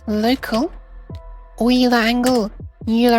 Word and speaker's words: Euler: it's local wheeler angle euler angle always pronounce it as the guy's name was actually euler pronounced the x rotation